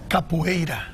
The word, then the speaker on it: Capoeira: Pronounce it for me. Capoeira.